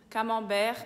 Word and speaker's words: camembert: O primeiro é camembert, que aqui a gente fala camembert. Camembert, a gente tem o E-N juntos, que é o mesmo som de A-N juntos, é en, camembert. E de novo a gente tem o T mudo, né?